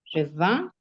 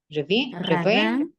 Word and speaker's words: ravin: Le revin Ravin.